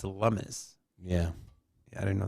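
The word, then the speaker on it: Lummis: Um I want to I want to live somewhere where And it's not Cynthia Lumis, it's Lumis.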